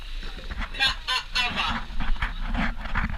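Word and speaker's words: Kaʻaʻawa: But the right way to say it is Ka'awa.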